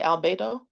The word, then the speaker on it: albedo: Albedo?